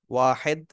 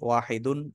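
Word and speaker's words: واحد: আরবিতে উচ্চারণ করতে পারি পরিপূর্ণ উচ্চারণ করা যায় অসুবিধা নেই ওয়াহিদুন তাসনিয়াতুন জামাউন কিন্তু এটা যেহেতু শেষে ওয়াকফ করা হয় ওয়াকফ করলে শেষে হারাকাত পড়ে যায় অর্থাৎ শেষে সাকিন হয় ওয়াহেদ তাসনিয়া জামা ওয়াহেদ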